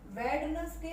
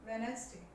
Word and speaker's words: Wednesday: वेडनेसडे नहीं होता ये, वेडनेसडे, वेडनेसडे, वेडनेसडे, D silent.